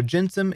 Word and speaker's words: gensim: to be talking about spacey and jensem so jensum is spelled like this g-e-n s-i-m jensum and spacey